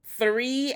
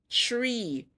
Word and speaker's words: three: I had to write "The word is is three and not tree."